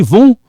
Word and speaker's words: vont: This one is silent. Vous allez. Ils vont. You see, vont.